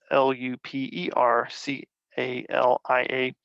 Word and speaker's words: Lupercalia: The holiday itself was called Lupercalia, which is Lupercalia.